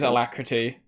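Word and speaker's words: Alacritty: just confirming it was allakra with the tty thing because like gty no it's actually it is alacrity you don't pronounce that the tty yeah i know that's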